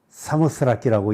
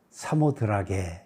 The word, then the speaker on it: 사모스라키: 가리켜서 이제 스라키 지역 그렇게 얘기를 하고 그거를 사모스라키라고 읽는데 그 말을 이제 에라스무스적인 헬라어를 사용하면서 우리가 사모드라게 이렇게 표시하고 읽게 된 거죠.